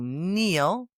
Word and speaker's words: kneel: 3 silent Ks in one sentence. Yeah, try saying that slowly. The knight knew how to kneel before the king.